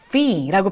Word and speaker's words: fee: 그리고 우리가 뭔가 요금 같은 거 낼 때 F-E-E 짜잔 이렇게 생겼어요. fee라고 발음을 하시는 거죠. 우리 영어학교 여러분들은 우리 여기서 우리 F 발음 해줘야 된다. fee라는 이런 발음하죠.